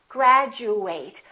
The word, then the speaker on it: graduate: of word it is if it's a verb we fully pronounce eight and it kind of sounds like the number eight graduate i would like to